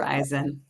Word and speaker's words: Verizon: uh meta former Verizon Verizon how do I pronounce that Verizon Verizon Verizon and actually spent a